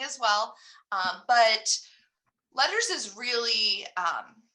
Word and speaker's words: LETRS: So right now here in New Mexico, we are hearing all about letters, but it is spelled LETRS.